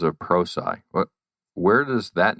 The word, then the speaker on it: Prosci: struggle to pronounce uh it actually comes from a contraction of the words professional and science okay so professional and science pulled together gives you pro sci uh but we do